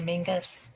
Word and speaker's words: Menzies: They took us to so many places, but um, Castle Mingus, it's spelled Menzies, but they say Mingus.